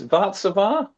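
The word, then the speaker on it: Warszawa: Um obviously the How are we pronouncing this? Vatzavar. Oh, Vatzavar. Var. I mean, it's it's the Polish for Warsaw, isn't it?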